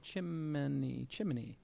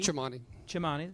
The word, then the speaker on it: Chimani: Chimney. 3. Chimani, that's what I said.